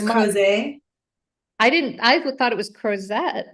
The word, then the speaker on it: Crozet: We've got another one launching in Crozet, Virginia. I have been mispronouncing that, by the way, for like So it's months. Crozet.